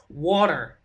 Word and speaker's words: water: They say it like the T is a D. That's how they say it. Water.